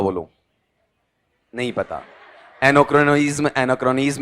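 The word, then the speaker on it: anachronism: ए एन एन ए ए सी एच आर ओ एन आई एस एन अब इसका उच्चारण बताओ देखें नहीं जी एने क्रोनिज्म अब पढ़ो क्या है टुकड़े में जैसे पांचवी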